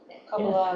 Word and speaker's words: Kabbalah: It's called the Kabbalah. Kabbalah. Kabbalah. Mhm. Kabbalah. Kabbalah is another pronunciation. Yeah, it's another present. I think there are about 3 different.